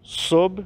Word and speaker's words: sob: Pôs tudo sob seus pés. Então, pôs de colocar e o sob falando aqui com B mudo, né?